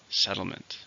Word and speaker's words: settlement: countable noun how many syllables in settlement three stress in the first settlement Israel builds some several